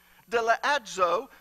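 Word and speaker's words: δελεάζω: Now, enticed is translated from the Greek word deleazo, which is derived from the root word delear. Now, that's the correct way to pronounce it, but I can't pronounce it like that.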